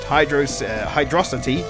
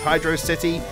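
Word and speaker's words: Hydrocity: I can tell that probably half of you right now are commenting that it's pronounced Hydrosity, rather. And to be honest, I don't care, because that's all preference. I'm pretty sure at some point I heard it was announced that it's actually meant to be pronounced Hydro City, though that could have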